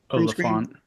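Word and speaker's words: Olyphant: Oliphant.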